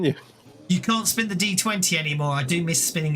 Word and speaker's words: d20: but apparently you know what you see in books D20 it was actually meant to be pronounced die 20.